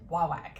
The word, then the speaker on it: Wawak: machine and listens for them and how they pronounce it and it is huawei in case you are interested anyway all right